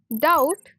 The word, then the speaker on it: doubt: Doubt, silent B.